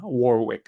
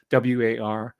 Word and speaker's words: Warwick: His name's Tarl Warwick, Tarl, Warwick, as it's spelled, Warwick.